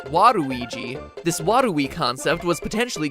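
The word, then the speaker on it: ワルイージ: even better in japan where his name is pronounced waruiji this wadui concept was potentially going to go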